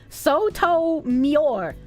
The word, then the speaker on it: Sotomayor: It's pronounced Sotomayor.